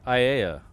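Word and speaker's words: Aiea: Paul, it's pronounced IA.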